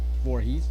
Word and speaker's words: Voorhees: He would be Jason Voorhees.